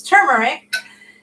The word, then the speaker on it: turmeric: term yeah turmeric turmeric I've always said it wrong I realized up until recently I don't know why I always sit to Mary gets turmeric it's turmeric makes it very yellow